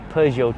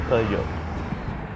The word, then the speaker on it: Peugeot: Now, I think I finally got the pronunciation right. I think it's Peugeot 207. That sounds correct. Let's call it Peugeot.